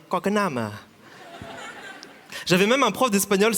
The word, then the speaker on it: Quoc Nam: En fait, mon prénom entier, prononcé en français, c'est Quoc Nam. Prononcé en vietnamien, Quoc Nam.